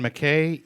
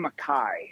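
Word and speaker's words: MacKaye: real quick is that is it Ian McKay Ian McCaw how do you say it I've I think it's in Makai uh okay so it's neither of what I said it's my brother yeah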